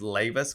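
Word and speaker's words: Leiva: so our website is lava's coffee and lavis is my last name is Leyva and it's l-e-i-v-a and it's pronounced like laying back lavas yeah it's a super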